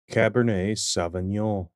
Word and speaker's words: Cabernet Sauvignon: this word is pronounced Cabernet sa Cabernet sa Cabernet sa Cabernet sa because of its French origin we do not pronounce the last letter of the words Cabernet savol check out these